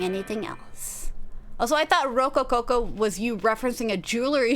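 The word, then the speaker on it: rococo: Yeah, it's only Rook Coco. I did Roco Coco. I did one too many cos.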